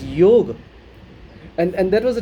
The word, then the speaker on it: yoga: on to your chairs even the word yoga is not supposed to be pronounced as yoga it is yoga and and that was